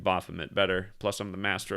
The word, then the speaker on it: Baphomet: Somebody wrote me an email and said it's actually pronounced Baphomet, so I guess it's got a French sound. I still like Baphomet better.